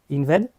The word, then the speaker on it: Inved: Tu es le fondateur de Inved, c'est bien juste, je l'ai bien prononcé.